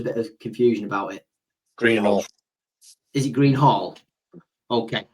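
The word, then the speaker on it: Greenhalgh: If you Liv Greenhouse, how do you pronounce the surname? There's always a bit of confusion about it. Greenhall.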